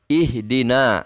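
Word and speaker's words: اهدنا: ihdina nah ihdinas sirotol ihdina pada ayat 6 ini ihdina ini juga ini juga adalah Hamzah washol kenapa ih di tercinta di sudah dijelaskan lihat huruf ketiganya adalah di berharokat kasroh ini adalah fi'il huruf ketiganya berharakat kasrah maka HAM Jawa soalnya harus kita baca dengan bunyi harakat kasrah ketika Dewa bacaan ihdinas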